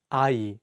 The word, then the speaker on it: 아이: Let's take the word 아이, which means child. In this word, the iung in each syllable works as a placeholder and only the vowels are pronounced.